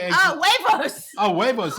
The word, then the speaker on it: huevos: Oh, huevos. Oh, huevos. It's spelled with an H. I know J is H. Yes, huevos.